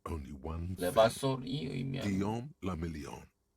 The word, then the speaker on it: Guillaume le Million: 레바솔이 의미하는 Guillaume le Million. If it doesn't rhyme, you're not pronouncing it right.